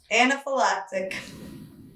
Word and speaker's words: anaphylactic: It's not anti. It's Anna. It's Anna. How do you spell it? Starts with an A. Let's look it up. But it's not antifactic. Anif anaphylactic.